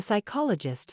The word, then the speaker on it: psychologist: one on Wednesday the psychologist thought thoroughly about the strength of the Island's ecosystem that's perfect it's got the silent deed in Wednesday the silent p in psychologist the DH sounds and